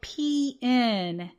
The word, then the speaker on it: Pneuma: So if you haven't seen Pneuma, and it's spelled Pneuma, Pneuma, like pneumonia, but it's not pneumonia.